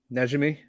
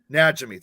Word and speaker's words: Najimy: Midler, Kathy, how do you say Kathy's last name? Najimy, or is that how you say it? Najimy. Najimy, thank you.